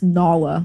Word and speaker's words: Nala: It's Nala, like from the Lion King.